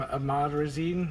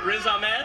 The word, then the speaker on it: Riz Ahmed: I don't know how to pronounce his name. Ahmad Razin?